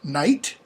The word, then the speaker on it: night: They become nothing, as in the case of night or knight. Okay. N-I-G-H-T just becomes pronounced N-I-T, night.